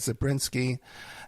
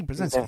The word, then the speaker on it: Brzezinski: Carter had Zabriskie, and also too Obama had Zabriskie too. Am I pronouncing that correctly? Brzezinski, yeah, Brzezinski.